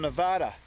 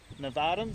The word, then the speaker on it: Nevada: These guys are from Nevada, and they are our first Nevadans. Is that how you say it? It's Nevada. Nevada. Yeah, Nevada. That's for the east.